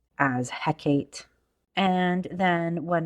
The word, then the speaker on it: Hekate: I'm only finding is it's either hecka or he8 so heck eight I mean both sound good to me but I'm but I naturally go and flow towards Hecate so that's how I'm going to say it and that's what resonates with me um now with all